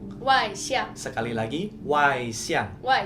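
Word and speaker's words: 外向: Nah, kalau extrovert di Mandarin itu kita bacanya Wai Xiang. Wai Xiang.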